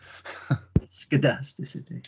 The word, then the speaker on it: scedasticity: to you almost skedasticity with a hard see skedasticity okay got it um